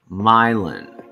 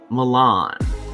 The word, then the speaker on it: Milan: county spelled quite like the italian city is pronounced milon mylon not milan but myland